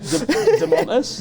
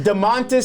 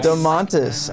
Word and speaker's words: Domantas: Pronounce his first name. I can't. I can't do it. I can't try it out. Demontis? Domantas Sabonis. Domantas.